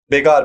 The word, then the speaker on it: begar: beggar the force label begar basically it's not beggar okay even I mistakenly pronounce it as a beggar okay because if we